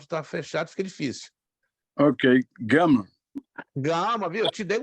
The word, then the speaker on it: gama: Ok, gama.